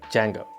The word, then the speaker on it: Django: But to understand web development as well, I also studied the Python web development framework Django. D is silent.